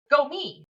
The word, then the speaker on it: Gomih: to me to tr try to say to pronounce it correctly. So she said to her answer to me was go me.